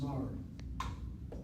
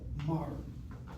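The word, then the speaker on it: מר: If it's just everyday Mr., then it's Mar. Mar. In other words, the M is a mem and the R is a resh, and that's it, Mar.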